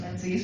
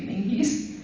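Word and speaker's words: Menzies: hopefully you know that m n z i e s can be pronounced menes but it's really mingies I don't know I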